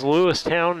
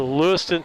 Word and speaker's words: Lewistown: And again, we're in Lewistown, and it is Lewistown, not Lewiston. Well, it's said ton, but it's pronounced, or it's spelled town.